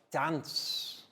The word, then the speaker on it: dance: okay so now guys let's tell prell to spell dance d a n c e dance you see once again the soft c sound sounds like s bro that was brilliant